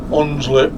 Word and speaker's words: Hunslet: So that's the modern day first bus depot, Hunslet Park. With a silent H.